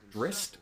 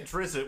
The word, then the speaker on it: Drizzt: books for this character called drist or Drizzt or however you want to say his name exactly I say a drizzle which is the incorrect way of saying yes but that's